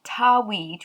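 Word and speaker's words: Tawhid: and the title is allah as one god tarweed which is spelled t a w h i d now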